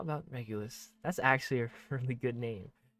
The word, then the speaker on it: Regulus: Regulus, or yeah, I think that's how you say it.